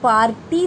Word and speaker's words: party: पी ए आरटी वाई बट in this word R E silent हम लोग पार्टी तो नहीं बोलते हैं ना but while writing we have to right letter are इट इ अ साइलेंट लेटर ओके कुछ कुछ एक्सेप्शन वर्ड्स होता है जिसमें कुछ लेटर्स साइलेंट होते हैं बट you have to right there okay आपको लिखना पड़ेगा बट you will not pronounce those letters आप वो